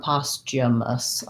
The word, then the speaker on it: posthumous: american english yeah okay so going with my ch sound postumus is how is how i would say that um thanks that was